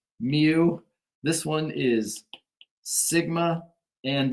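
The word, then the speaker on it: μ: letter for mean nice thing is this is pronounced mu this one is Sigma and the first letter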